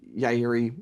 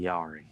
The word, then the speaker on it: Yairi: about this guitar uh and yayi in general now that you know how to pronounce it correctly thanks Cooper don't be sorry calling it Yari so let us know